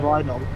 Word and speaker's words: Rheidol: Rheidol.